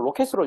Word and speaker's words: rkt: RKT 요거는 로켓으로 여러분들 발음하시면 됩니다.